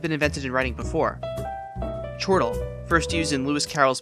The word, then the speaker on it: chortle: In chortle, we can intuit a reasonable way to say it from words like chore and turtle.